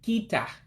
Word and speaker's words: kịta: Remember, you have that I with the dot underneath that gives it a different pronunciation. So again, that's called a diacritic. And it makes that sharp E sound.